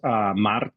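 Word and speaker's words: marzo: pronunciation for the month's Maro so with that z sound pronounced like the Z in Pizza Mar um ma again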